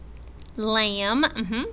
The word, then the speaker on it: lamb: We do not hear the B in words like lamb and thumb and dumb and bomb.